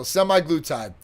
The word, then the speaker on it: semaglutide: So semaglutide.